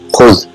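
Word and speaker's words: خذ: What it is pronounced is khuz.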